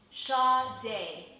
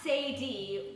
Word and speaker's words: Sade: guess how you pronounce that name i bet you can't let me save you the trouble shaw day that's right chad a is pronounced shaw day not say d or said or said but we call her